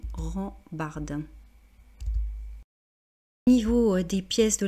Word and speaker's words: rambarde: Donc, là, pour la prononciation, rambarde.